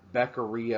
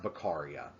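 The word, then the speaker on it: Beccaria: going on and so bakaria or beckeria or however you want to say it it's pronounced bakaria but bakaria basically says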